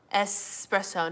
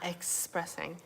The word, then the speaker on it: espresso: grapes right now delicious um espresso not expressing yes and that's right that's